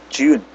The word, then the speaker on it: June: June. E-nya enggak di C June ya.